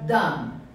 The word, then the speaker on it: dumb: Smart or dumb? Gente, esse B não é pronunciado.